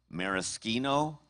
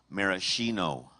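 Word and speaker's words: maraschino: Your word has two correct pronunciations. Marisino marishino.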